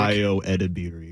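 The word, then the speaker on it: Ayo Edebiri: Io Edebiri.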